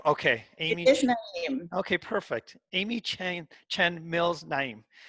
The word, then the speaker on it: Naim: It is Naim. Okay, It Amy. is Naim.